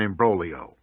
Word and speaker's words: imbroglio: Imbroglio. An intricate or complicated situation. A mess is an imbroglio. I-M-B-R-O-G-L-I-O. The G is silent.